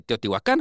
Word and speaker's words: Teotihuacán: te aparece Teotihuacán con acento en la A, en la Ujú.